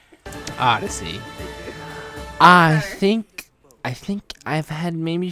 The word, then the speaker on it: Odyssey: I posted on his channel Assassin's Creed Odysseus. Say it right. Odyssey.